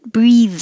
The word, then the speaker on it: breathe: Breathe in, breathe out, and it has the voiced th, breathe.